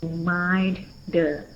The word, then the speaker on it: reminder: So read and then reminder. Because in this sentence we stress at the word mind.